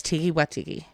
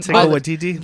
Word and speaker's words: Taika Waititi: Where's Tiki Watiki? I said his Well, name wrong. Taika Waititi.